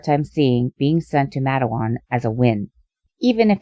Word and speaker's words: Matawan: the criminally insane note I have heard this pronounced madawan and mateoan for some reason I'm believing madawan so I'm going with that the next day George